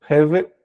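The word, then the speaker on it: הֶבֶל: Pronúncia é a mesma. Hever, hever. O B, quando tem esse tracinho embaixo, é v, tá? É o veit.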